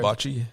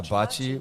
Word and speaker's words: bocce: bocce. Yeah, bocce.